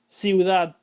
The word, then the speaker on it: ciudad: Note that the second weak vowel is pronounced more fully than the first. Cuidado, ciudad.